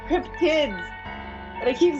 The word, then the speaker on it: cryptid: I don't know why, but I just kept on calling cryptic. See, I can't say it now. I just keep. It's not cryptics. It's cryptids.